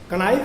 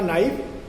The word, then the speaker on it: knife: अंग्रेजी में जैसे कनो शब्द है, कनो KNOW, कनो का उच्चारण नो, कनाइफ का KNIFE का नाइफ, तथा टाल्क TALK टाल्क का टाक भी इसका परिणाम है।